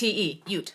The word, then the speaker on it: Ute: theater it's oh yeah UT Ute like the Indian tribe the UT yeah yeah